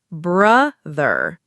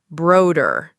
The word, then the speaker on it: brother: Some students say brother wrong. Remember, it's brother, not broder.